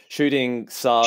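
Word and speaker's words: Shooting Tsars: And that's Shooting Zars. Shooting Zars, yeah. Shooting Zars. How do they spell it?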